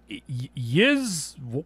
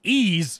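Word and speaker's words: Ys: loved it was called yiz wise yeez i had to look it up it's pronounced ease then why isn't it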